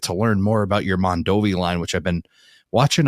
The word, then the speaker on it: Mondovi: show and get to learn more about your Mondovi line which I've been watching on your YouTube